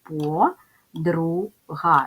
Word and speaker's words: подруга: склади ділимо на склади по друга ставимо наголос по подруга позначаємо приголосні звуки п